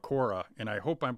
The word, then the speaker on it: Quora: i'd also go to another platform it's called cora and i hope i'm pronouncing it right it's q u o r